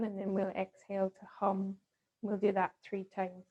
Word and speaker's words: Ham: we're going to chant the seed mantra of this chakra which is ham but it's kind of pronounced like hum so we inhale and then we'll exhale to hum we'll do that three